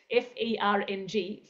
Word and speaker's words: Phuong: So I sent her a private message in Zoom and told her to put F-E-R-N-G, Fern, with the word letter G on the end, put it in brackets after your name in your Zoom box.